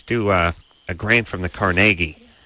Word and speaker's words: Carnegie: a grant from the Carnegie. Oh, they say it like that? Institute. Yeah, but they wouldn't call it Carnegie Hall or Carnegie Mellon.